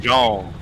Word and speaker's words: Dijon: It's pronounced Dijon.